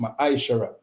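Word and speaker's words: Ma'aser: tent in the evil and is pronounced my ishara 10 of every penny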